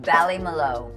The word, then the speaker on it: Ballymaloe: How do you pronounce that? Ballymaloe.